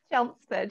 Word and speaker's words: Chelmsford: Is that how you say it? Chelmsford, yeah. Chelmsford.